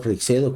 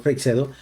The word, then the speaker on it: Freixedo: Afortunadamente, gente como Salvador Freixedo, como JJ Benítez, siempre trataron de contener y